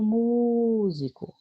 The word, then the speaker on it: músico: Por exemplo, olha o músico. Onde foi que eu segurei mais? Mu. Então, a sílaba tônica dela é mu.